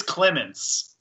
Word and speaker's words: Clemens: it is it is Clemens it is Clemens I keep I feel like you keep on saying like Clementine or something hey you're good but